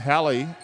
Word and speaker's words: Hallie: she loses the handle and Hallie rhymes with Sally he does the AJ